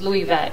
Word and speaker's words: Luivette: years ago i hated my first name it's louis vet and no one could ever get it right